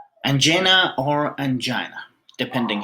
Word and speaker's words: angina: angena or angina depending how you pronounce it uh some people they prefer to pronounce it angina and some people they they prefer to pronounce it anena so I prefer to